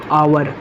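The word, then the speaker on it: hour: जैसे दोस्तों आवर, तो इसका उच्चारण क्या है, आवर। क्या दोस्तों, यानी आज से इसका उच्चारण हो रहा है, आज से इसका प्रोनाउंसिएशन हो रहा है। इसके साथ किसका यूज करेंगे दोस्तों, एन आवर का।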